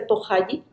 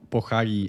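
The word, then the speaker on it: 보자기: Sí, en realidad en coreano significa otro que la verdad que no lo puedo pronunciar porque es muy complicado, pero sí, se le dice pohaji. Pohagi.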